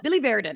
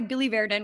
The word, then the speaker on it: biliverdin: It's called Billy Verdin. I have to figure out how to pronounce that every single time. But it's caused by Billy Verdin, which is a pigment that builds up in